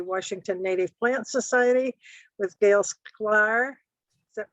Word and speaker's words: Gail Sklar: And this webinar on gardening with native plants is provided to us by the Washington Native Plant Society with Gail Sklar. Is that pronounced right, Gail?